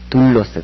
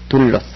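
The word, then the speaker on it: δοῦλος: 로스 잘라야 되죠 그러나 우리 읽을 때는 두로스 그렇지 않고 둘로스 그렇게 읽습니다 왜 그러냐면 람다가 리을 두 개예요 우리말로 얘기할 때는 그래서 그 앞에가 모음으로 끝나면 그 리 발음을 하나 해 줘야 됩니다 그래서 둘로스 그다음에 5번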